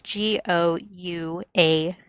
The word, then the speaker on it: gouache: It's just like an amalgamation of every vowel in the world. It's Gouache, gouache, which is a type of paint that I use. And it's spelled weird, probably because it's French.